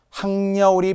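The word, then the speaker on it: 학여울: 자, 결국은 큰 원칙은 표준 발음법에 따라 적는다인데 다시 한번 발음이 전제되어야 되기 때문에 신문노가 표준 발음이라는 걸 알아야 되고 항려울이 표준 발음이라는 것을 알아야 하는 거잖아요.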